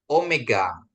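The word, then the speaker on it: ωμέγα: Omega ya. Omega ya. Di sini ada penekanannya jadi bacaannya dia omega ya Bapak Ibu ya.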